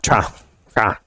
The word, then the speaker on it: Toronto: Yeah, Toronto. Tron. Toronto. Tron. One syllable, right? Yeah, just one.